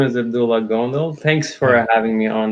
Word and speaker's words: Abdullah Gondal: you say it uh yeah my name is Abdullah gondo thanks for having me on the show it's